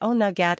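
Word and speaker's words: Oweynagat: During sawin, some of these creatures escaped via a way cave, pronounced onagat, and meaning cave of the cats.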